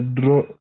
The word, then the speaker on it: droit: O-I is wa. Remember that. Le droit. Le droit. T is silent. You cannot pronounce letter T because there's no consonant, there's no vowel after letter T. So we say le droit.